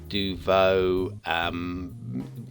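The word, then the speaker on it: Deauveau: How do you pronounce Duvo is the question. D-E-A-U-V-E-A-U, Duvo.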